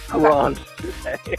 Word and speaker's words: Grand Chute: It is Grand Chute.